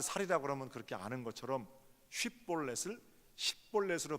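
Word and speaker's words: שיבולת: 이스라엘 사람들 넘치는 강, 넘치는 시내 이런 단어가 히브리어로 쉽볼렛입니다. 쉽볼렛. 그러니까 그 이스라엘 사람들은 전부 다 쉽볼렛 이렇게 발음을 하는데 에브라임 사람들은 이상하게 쉽자를 못하고 십볼렛 이렇게 합니다.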